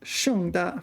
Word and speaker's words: 盛大: Yeah, but this is 盛大, 4th tone, starting with S, different pronunciation.